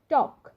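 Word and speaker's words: talk: একইভাবে আরেকটা নিয়ম আছে দেখুন, এল যদি কে এর আগে থাকে সেক্ষেত্রে উচ্চারণটা হবে টক, ওয়াক।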